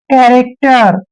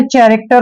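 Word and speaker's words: character: उच्चारण हम आधा क करेंगे और टी का उच्चारण ट करना है आर को र पढ़ते हैं कैरेक्टर इसको आपने चरेक्टर नहीं पढ़ना है कैरेक्टर पढ़ना है ठीक है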